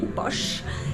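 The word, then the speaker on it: pox: il s'agit du poche ça s'écrit paix au x mais ça se dit bosch et c'est un alcool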